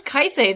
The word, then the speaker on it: Quaithe: One, why was Kythe there? Or Quaithe, or however you say her name. Quaithe. That's how Roy Dotrice. That's how Roy That's Dotrice she says Quaithe.